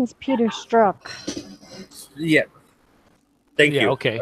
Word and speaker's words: Strzok: His name is Peter Strzok.